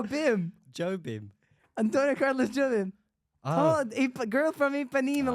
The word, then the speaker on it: Jobim: John Bim. Is that a That's new not teacher how at it- ICMP? That's not how you. I said That's John not how Bim. you say his name. It's Jobim.